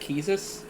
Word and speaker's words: Quistis: Uh, Oh, by the way, did you know Quiz's name is actually pronounced Keezus? It's French.